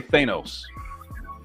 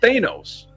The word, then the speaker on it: Thanos: So phonetically, But it's vowel, consonant, vowel, which Yeah, I got means it's a hard A. Which is Thanos. Growing up, it was Thanos. According to the English language, his name is pronounced Thanos.